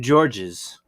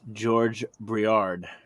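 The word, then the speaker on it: Georges Briard: it's I've been saying George's but apparently the S is silent so it's just George briard mid-century modern cheese board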